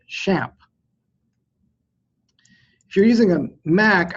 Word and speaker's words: XAMPP: I recommend that you install xampp or zamp or as I found out recently I've been pronouncing it wrong the whole time the website calls it shamp if you're using a